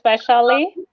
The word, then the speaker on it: Vaishali: My first name is Vaishali, and you can think of it as a fancier version of Shelly. So it's Vaishali, and the last name is pronounced as.